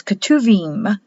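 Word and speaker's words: Ketuvim: the word Tanakh means katuvim spelled ketu beam with a B but pronounced as a v in Hebrew and these are the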